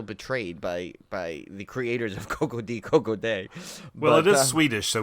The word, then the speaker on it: Koko-Di Koko-Da: and goes, life goes on, da, but it's Koko-Di Koko-Da is the way you're supposed to pronounce it, so that ruins about 35 jokes